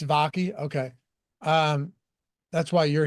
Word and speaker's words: Vaki: then if you think how do you pronounce his name vakai seon vaki it's vaki okay um that's why